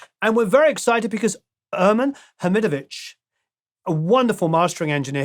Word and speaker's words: Ermin: audio so without further Ado let's chat with Herman thank you so much for that grand welcome